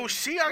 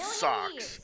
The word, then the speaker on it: Seox: So Seox is how you pronounce that name. I always call it Socks.